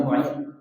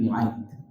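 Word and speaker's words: معيط: uqbah bin Abi muaid memang kalau kita lihat buku-buku terjemahan bahasa Indonesia dibacanya Muid ini salah yang benar fathah harakatnya uqba bin Abi Muid uqba bin Abi Muid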